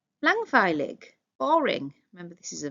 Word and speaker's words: langweilig: Langweilig, boring.